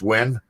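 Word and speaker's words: Nguyen: like Asian guy and his last name is NN you know NY g n but pronounced win when and I thought okay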